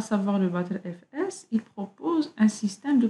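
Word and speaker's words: Btrfs: Le PTR-FS, ce système de fichiers qu'on prononce souvent BattleFS, il utilise le concept de extent aussi, tout comme le EXT4.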